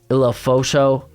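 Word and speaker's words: Ulofoshio: You got Eddie, here I put how to pronounce it, the Washington cat, Eddie Ilafosho.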